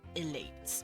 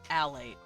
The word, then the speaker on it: alate: So, elates. Wait, no. How do I spell it again? A? Yeah, alate, not elate.